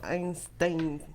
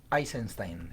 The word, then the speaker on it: Eisenstein: es de Sergei Einstein, siempre digo Einstein, me equivoco siempre. Te comes una sílaba. Es Eisenstein.